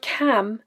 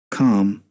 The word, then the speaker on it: calm: people to be Cal for most Scottish speakers the word cam is pronounced with the a vowel as we can hear in this clip this is quite different